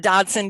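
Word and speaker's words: Dodgson: Mr. Dodson, don't pronounce a G, don't ever call me Lewis Carroll.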